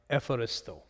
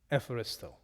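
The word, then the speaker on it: εὐχαριστῶ: the word eucharisto eucharisto how would you pronounce eucharisto it would be more like efforisto efristo so what if uh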